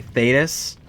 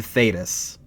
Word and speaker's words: Thedas: And by the way, Thetis, which is the name of the land, right, wasn't intentional. If you spell that out, it's THEDAS.